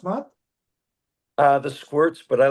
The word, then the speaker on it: The Squirt: Is The Skirt a good way to pronounce, Matt? The squirts, but I like the way you say it better.